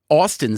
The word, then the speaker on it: Austan: Your first name Austin sounds normal, but you don't spell it normally.